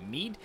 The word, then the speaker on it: Mide: but in fact meat would be a closer pronunciation of it so I will call it Mead from now on until told otherwise but regardless